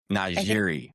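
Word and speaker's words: NiJaree: Now is it it's Nea? Is it Na Kennedy? How do you pronounce her name? Najiri.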